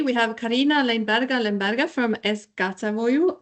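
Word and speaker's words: Es gatavoju: With us today, we have Karina Lemberga from Eskatavoju. I hope I pronounce it rightly, which means I cook. Did I pronounce it right? Yeah.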